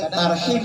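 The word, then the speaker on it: ترحيب: Kadang tarhib Ramadan tapi dibacanya tarhib Ramadan.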